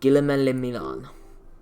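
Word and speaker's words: Guillaume Le Million: That meant only one thing: Guillemelle Milan. If it doesn't rhyme, you're not pronouncing it right.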